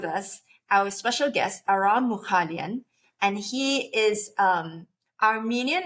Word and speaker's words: Mughalyan: me your last name my last name is pronounced as mukalian m mukalian mukan y great okay